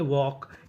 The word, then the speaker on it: walk: जैसे WALK इसे पढ़ते हैं वॉक, यहाँ पे L हमारा साइलेंट रहता है, L का उच्चारण नहीं करते, और आखिरी में ED, तो मीनिंग बनी वॉक्ड, वॉक्ड, वॉक्ड का मतलब टहला।